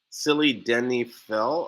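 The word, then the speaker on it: sildenafil: using that yohimbe you have to add slits silly denny phil or phil and i think that's the stuff that they put in cialis it's spelled s-i-l-d-e-n-a-f-i-l selena i was like was i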